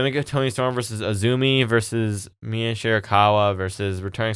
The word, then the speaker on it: AZM: Apparently AZM, which I thought her name was, is pronounced Azumi.